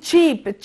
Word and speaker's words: cheap: عندي كلمة cheap، cheap يعني رخيص، cheap cheap يعني رخيص، في فرق في النطق.